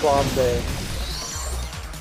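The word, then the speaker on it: flambé: It's pronounced flambe.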